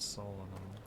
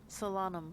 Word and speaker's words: Solanum: Let's go meet Solomon." Is that how you pronounce it? Is it like Solanum? Solanum. Solanum. Salam. Solomon. I see. Yeah, like salami.